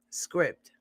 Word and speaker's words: Scribd: understood what i said let me spell it out for y'all it's called scribd s-c-r-i-b-d script and it's an app